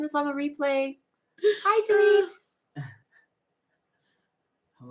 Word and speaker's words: Dorit: And so her channel looks like Dort, but her name is pronounced like Dorit, like Doritos, but without the O's.